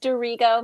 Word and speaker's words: D'Arrigo: you get it there ego close close it's pronounced dirigo dorigo nice to be here with you all thanks